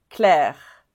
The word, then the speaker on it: Claire: et Chloé Chloé ensuite ce prénom on prononce claire claire et alors on s'arrête au we stop at the sound claire on va pas prononcer le E final claire clair alors celui-ci